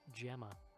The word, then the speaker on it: Gemma: episode where I learned that that name is pronounced Gemma what about what's her name sorry sorry Sasha